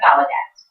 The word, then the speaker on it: Gallaudet: It's pronounced Gallaudet. That's the way it's pronounced.